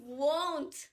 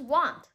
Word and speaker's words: won't: bite i won't bite o n t i won't i won't bite won't okay the the two words that make up this word is will not so and then this is want this is all this is a whole word